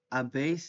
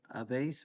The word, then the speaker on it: habéis: So starting off with I have has, a, hemos, habéis is the you guys one, habéis with the accent on the e, and an.